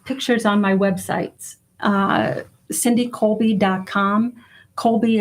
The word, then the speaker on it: Kolbe: Colby is spelled Kolbe.